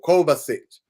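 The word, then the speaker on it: Kovačić: Kovacic. There we go. Kovacic.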